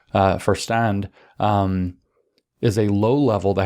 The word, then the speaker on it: Verstand: It's not pronounced Verstand. I got corrected by a German. What a surprise, I got corrected in my German. Verstand is a low level